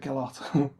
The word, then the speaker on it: Gillot: Alex Gillot, you pronounce it Gillot, Alex was a patron